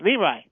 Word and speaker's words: LeRoy: team it's Leroy by the way it's not Leroy you should have all people know that Carl it's leri Butler he changed it to looy how do